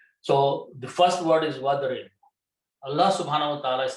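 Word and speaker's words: وَاضْرِبْ: When you combine with a waw, which is and, you do not pronounce this alif and becomes hamzatul wasl. So wadrib, that's the word in the Quran.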